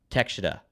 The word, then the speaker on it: Takeshita: It's Takeshita.